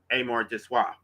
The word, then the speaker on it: amour de soi: I'm not good with French, but I'm pretty sure it's pronounced amour de soi, which means self-love, self-preservation, the animal drive to protect one's own life and well-being.